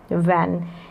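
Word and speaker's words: when: तो वो डब्लू को तो पढ़ रहे हैं, एच यहाँ पर साइलेंट है, वैन।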